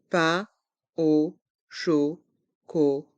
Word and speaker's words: pain au chocolat: pain au chocolat un pain au chocolat avec les lettres A i n pain à le son un les lettres a et U se prononcent o un pain o chocolat